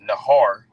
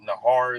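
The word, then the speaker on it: נהר: in the Hebrew that word flood is is pronounced Nahar all right Nahar is flood and when you get that word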